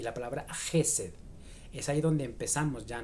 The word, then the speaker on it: חסד: Se pronuncia Gesed con una J muy fuerte.